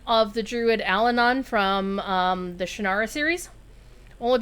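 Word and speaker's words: Allanon: One that I got right, and I feel very proud that I got right, was the pronunciation of the druid Alanon from the Shannara series.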